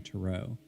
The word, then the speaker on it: tarot: tarot card expert although you'll hear her use the European pronunciation to row now I had actually